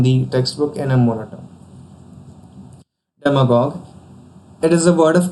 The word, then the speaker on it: demagogue: Once elected, demagogues use political power to further their own personal ambitions or fortunes. And its pronunciation is stressed on dem syllable, and here's a usage.